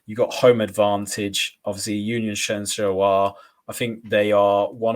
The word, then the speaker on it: Union Saint-Gilloise: Union Saint-Gilloise, I've been informed is how you say it, had 7 shots and 4.